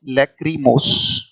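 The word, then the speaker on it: lachrymose: और LACHRY, लैक्रीमोस, right, इसका उच्चारण है लैक्रीमोस, लैक्रीमोस, इसको लैक्रीमोस, राइट।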